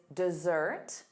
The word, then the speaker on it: dessert: The syllable stress is on the second syllable.